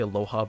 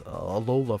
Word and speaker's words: Alola: I want to say Aloha, but it's Alola forms.